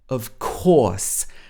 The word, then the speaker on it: of course: musical talent that's fantastic did you hear how she pronounced of course of course again this is a long or sound if this was in the american english accent it would be of course or this would have